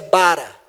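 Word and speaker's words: ברא: A pronúncia é bara.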